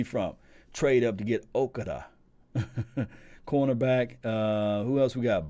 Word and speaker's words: Okudah: Jeff Okudah.